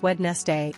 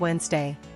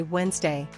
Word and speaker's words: Wednesday: one pronouncing Wednesday as wedness day instead of Wednesday fix skip the D and just say Wednesday Wednesday Wednesday two mispronouncing